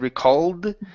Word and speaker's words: recall: recall okay all right watch that L and said recalled okay recall leave your tongue at the top of your mouth we called that the